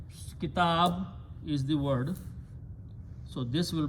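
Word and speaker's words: كتابي: So when you read these together, it should be read kitaboyi, right? Or kitabuya. But to make it smooth on the pronunciation, we do not pronounce even that one pesh. We just pronounce kitabi.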